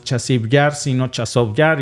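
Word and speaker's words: Часів Яр: llamarle así chov yar yo tenía la duda de cómo se pronunciaba chasi yar o chaso yar Y al parecer chasi yar es la transliteración eh si lo traducimos del ucraniano al al español pero desde la forma rusa no es chasi yar sino chov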